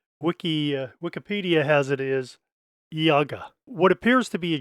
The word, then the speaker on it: Ihagee: videos and uh wiki Wikipedia has it is Yaga what appears to be a j is actually